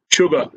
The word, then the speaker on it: sugar: President, do you know, sugar has this letter S, and this is the only letter, only word in English where the pronunciation of S is carried out as ch, sh, sugar.